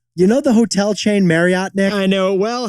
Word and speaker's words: Marriott: know the hotel chain Marriott there I know it well how do you actually say it Jack it's actually Marriott like Chariot Marriott is really Mariette